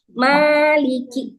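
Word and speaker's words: مَالِكِ: Fathah itu yang suaranya membuka ya, membuka mulut ya. Jangan sampai tidak dibuka cara membacanya. A gitu. A maliki, ma-nya berarti membuka mulutnya aja. Maliki. Coba deh kalian baca a tapi mulutnya nggak dibuka atau bukanya sedikit, pasti suaranya beda.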